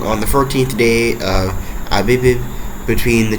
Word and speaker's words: Abib: I'm pretty sure it's pronounced Abib because it's A-B-I-B. Yeah, Abib.